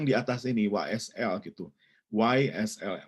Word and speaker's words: YSL: YSL, Y gitu baca ejaan Inggris, YSL.